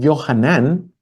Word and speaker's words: Johanan: josías johanan ese nombre johanan es Juan transliterado al griego ya johanan es la pronunciación hebrea de Juan johanan Entonces johanan que